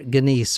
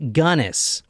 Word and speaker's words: Gunness: is it is gunness I might call her ginise or Guinness or something but drinking Stout yeah apparently it's pronounced gunis G now she is known as a few